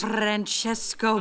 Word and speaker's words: Francesco: car his name is Francesco Bernoulli no wonder there's a crowd wait why do you know his name I don't say it like that it's three syllables not ten what he's nice to look